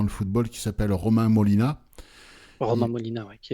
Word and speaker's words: Molina: Vous pouvez taper Romain Molina, Molina comme ça se prononce, hein.